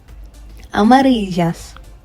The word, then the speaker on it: amarillas: Amarillas. Okay. The double L is pronounced as Y, if you would remember. So we say amarillas, not amarillas.